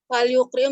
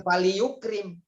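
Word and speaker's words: فليكرم: fal yukrim doifa Bukan fali yukrim, sukunkan.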